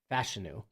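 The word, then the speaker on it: Fashanu: Jets they go Olu fashu gotta start saying his name right he has come out and said it is pronounced fashion and Ricky parsa man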